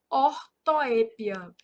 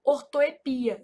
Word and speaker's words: ortoépia: Então aqui, ó, são erros de ortoépia. Essa palavra ortoepia, ela é um caso de variante, então ela também pode ser pronunciada assim, ó, ortoepia, sem acento.